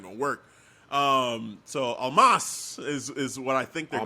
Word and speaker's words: Omos: How do you pronounce his name? I think it's almost. It's like No, it's but almost saying that's not almost, the but it's not pronunciation saying anymore. almost. I think it's Almas.